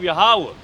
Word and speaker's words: Yahweh: That's why they they get the they'll say the biblical text but then they'll get the the transliteration wrong or the pronunciation wrong. That's where you get Yahweh from and stuff like that. Wrong translations or pronunciations I should say.